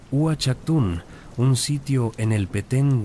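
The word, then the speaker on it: Uaxactún: Pero quizás el ejemplo más espectacular de arquitectura astronómica maya se encuentra en Uchaktun, pronunciado Uchaktun, un sitio en el Petén guatemalteco.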